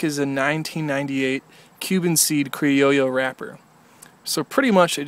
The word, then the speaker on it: Criollo: A lot of people would probably pronounce that Criollo, but it's a double L, so I guess that's Criollo.